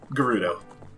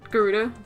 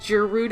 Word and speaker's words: Gerudo: go Moreno Valley wait how did you pronounce it Garuda Garuda yep how do you pronounce it Garuda okay I wasn't sure if I heard you say like ah like Giroud oh oh Garuda no guru that would be weird yeah yeah just